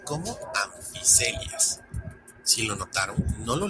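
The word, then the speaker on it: Amphicoelias: Por ejemplo, en que se pronuncia como anficelias. Si lo notaron, no lo leí como ampicelias, y es porque se vienen otras reglas de pronunciación. Por ejemplo, PH se pronuncia como una F suave.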